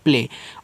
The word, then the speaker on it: play: अब AY है तो एक ही मात्रा के रूप में आप यहाँ पे उच्चारण करोगे, हो जाएगा प्ले।